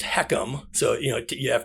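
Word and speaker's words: HECM: uh mandated this and it's the h-e-c-m it's pronounced heckum so you know you have to get used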